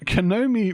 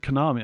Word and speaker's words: Konami: Um, Kenomi reveals, Konami, I should say, pronounce it properly.